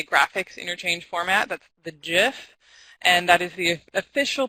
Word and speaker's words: GIF: talking about today graphics interchange format that's the jiff and that is the official pronunciation but you could feel free to pronounce